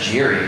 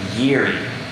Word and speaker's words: Jiri: So I would have said Jiri when I first saw that, but as I was reading through the documents, apparently it's pronounced Yeri.